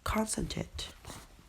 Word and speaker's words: concentrate: to pronounce current concentrate and we stress on the first syllable concentrate and we know we